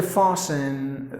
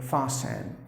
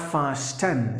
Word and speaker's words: fasten: fossum for say yeah the letter T is silent so meaning putting a knot do you have to fasten some object somewhere else that's the meaning fosston that's the way you have to pronounce word not fast n so you have to say it as fasten to tie to